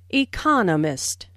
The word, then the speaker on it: economist: Smith is an Economist notice the stress on Economist this content word has new information so It is emphasized are four syllables in Economist with the str second syllable Economist he just finished Writing